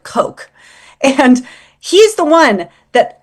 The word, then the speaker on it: Coke: Lord, I always say Lord Cook, but you guys pronounce it Lord Coke.